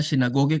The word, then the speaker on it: sinagoge: Ini kan tokoh-tokohnya di sana kan itu pemuka di sinagog tulisannya sinagoge kan bacanya sinagog.